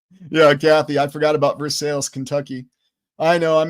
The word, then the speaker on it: Versailles: There's also Versailles, Missouri, obviously named after Versailles, spelled the same way, but on the ground you call it Versailles.